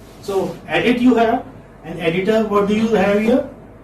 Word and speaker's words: editor: edit you have an editor what do you have here or in editor and you know that r is not pronounced when it occurs at the final position in english language americans do pronounce r